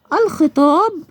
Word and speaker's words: الخطاب: اللام الشمسية واللام القمرية، اللام القمرية تنطق وتكتب زي الخطاب، نطقت اللام، اللام نطقتها وتكتب، تكتب.